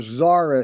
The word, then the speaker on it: Xsara: That's where Zara is. And Zara is spelled XSARA.